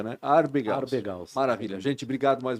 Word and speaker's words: Abergaus: Aloysio Arbegaus, se escreve exatamente como se pronuncia, né? Arbegaus.